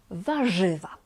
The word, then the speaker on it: warzywa: Here R and Z together are pronounced as ż. Ż. Warzywa.